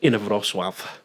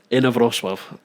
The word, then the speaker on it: Inowrocław: But England's from a very small place called Inowrocław, which you couldn't even pronounce, I'm guessing. Say it again. Inowrocław.